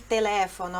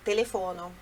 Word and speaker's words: telefono: Então, tra la radio, olha il telefono, é a mesma coisa. Lendo assim, quem é falante de língua portuguesa pode pensar telefono, mas não é. A sílaba forte, a sílaba tônica é no le, telefono, tá?